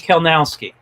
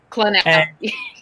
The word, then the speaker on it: Kleynowski: The Y is silent. That's the easiest way to do it. So it's Kleynowski. Okay. Kleynowski.